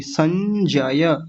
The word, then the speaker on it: संजय: संजय आसान शब्द है अब संजय में एक चीज और देख लीजिए बड़े लोग तो ध्यान से समझेंगे और भी ध्यान से क्या संजय बोल देते हैं संजय संजय नहीं संजय ज य य को भी पूरा बोलना है नहीं तो जल्दबाजी में